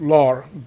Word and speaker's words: leurs: So um so if you're pronouncing the plural on on its own, you're going to pronounce it lore.